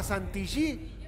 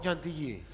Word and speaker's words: Chantilly: ¿Cómo se dice, crema Santillí o Chantilly? Bueno, lo que pasa que ahí está, o sea, lo puedes decir de las dos maneras, hay una manera que es más... La pronunciación en francés, en realidad.